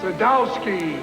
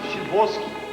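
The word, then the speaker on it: Szybowski: Sadowski. Shibowski. What? It's pronounced Shibowski.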